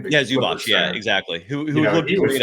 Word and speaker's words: Zubac: I mean, he was grappling with Zubac, how do you pronounce his name? Zubac, yeah, exactly.